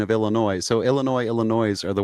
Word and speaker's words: Illinois: I'm I will give you Illinois. Where are you from? I'm from Illinois. Uh, but I will not. No, there are no two pronunciations. There is no S. The S is never pronounced.